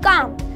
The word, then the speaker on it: calm: अगर मैं बोलूँ काम, तो यहाँ पे CALM आया है, यानी कि M से पहले L आया है, L हो जाएगा साइलेंट और इसे हम पढ़ेंगे काम, CAM।